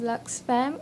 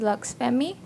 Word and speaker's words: Luxfam: I'm the founder of Luxfam or you could also pronounce it as Lux Fammy.